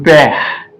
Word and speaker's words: père: This E that have this accent that goes to left is pronounced as air in English. So e.g., le père, E is silent.